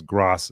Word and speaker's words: GRAS: will enter the market is pronounced as gras, so generally recognized as safe, and 10 years later, 1 million people died, then they take it off the market.